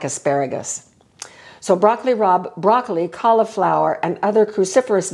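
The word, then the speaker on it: broccoli rabe: dandelion greens and arugula broccoli Rob I'm going to show you broccoli Rob in just a minute it's spelled r a be but it is pronounced Rob broccoli Rob which is related to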